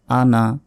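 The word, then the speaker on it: أنا: ওয়ালা তিন সেকেন্ড টান আনা এখানে কিন্তু টানা যাবে না এখানে যদিও টানের মাদ আছে মানে টান দেয়ার নিয়ম আছে কিন্তু এখানে টানা যাবে না দেখুন জবরের বাম পাশে খালি আলিফ আছে তো এখানে স্বাভাবিকভাবে এক আলিফ টান কথা কিন্তু আনাস শব্দটির অর্থ হচ্ছে আমি এটি একবচন একটি শব্দ যার কারণে এখানে টানা যাবে না এটাই হচ্ছে নিয়ম কোরআন মাজিদে কিছু কিছু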